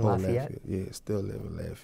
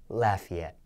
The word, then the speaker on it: Lafayette: trauma still living in Lafayette yeah I pronounced it wrong huh is it Lafayette I said Lafayette he just said it the correct way I said it the